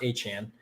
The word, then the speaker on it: Etienne: That's how you pronounce his name, by the way. Not Etienne anymore. He said it's Etienne.